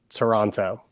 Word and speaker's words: Toronto: How do you say Toronto? Toronto. Oh, it's yeah. Toronto. Drop the T, guys. Come I can't. Toronto.